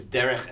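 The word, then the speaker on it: דרך: be a signal signal it's two of these cingulate nouns with the accent on the first syllable so the expression is derech Eretz so there are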